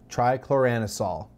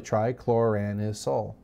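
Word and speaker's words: trichloroanisole: First of all, it's called TCA, or, and I worked on this pronunciation, 2,4,6 trichloranisol. It looks like a massive word or a really hard word, but it's really trichloranisol or sol.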